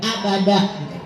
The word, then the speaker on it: abada: Kalau Anda dengar dari awal, mad badal di ujung ayat ada fathah tain, tanwin patah, di depannya ada alif, dibacanya bukan dab tapi da, abada.